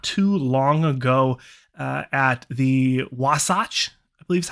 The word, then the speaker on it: Wasatch: We saw her not too long ago at the Wasatch, I believe is how you say it, the Wasatch Pro.